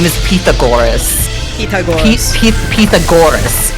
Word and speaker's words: Pythagoras: His name is His name is Pithagorus. Pagorus. Pagorus like emphasis on the go like Pithagorus not Pythagoras at all I think also she was called Pagor.